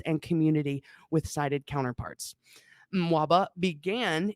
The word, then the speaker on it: MWABA: we're going to call what how were we pronouncing it earlier I say mwaba that's what we're going to call it from